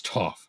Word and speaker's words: Toph: man, and he's like, "My name's Toph. It rhymes with tough.